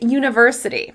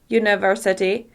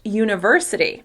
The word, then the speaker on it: university: However, the word should be pronounced university. University. As you can hear, when I stress the syllable ver, university, it's easier to understand the word.